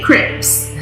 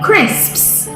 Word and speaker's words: crisps: they would always say where are the crips are you talking about correct we say crisps this sound is very difficult for some people to say so you need to practice this in the mirror before you brush your teeth every night crisps okay number five is this one